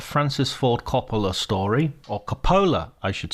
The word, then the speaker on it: Coppola: to Paradise a Francis Ford cop story or Capa I should say actually I mispronounce his name all the way through this